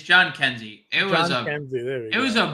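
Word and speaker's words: Jhonkensy: Johnsky Noel, John Heskey, however we decided we were going to pronounce that there. John Kenzie. Last night. It's John Kenzie.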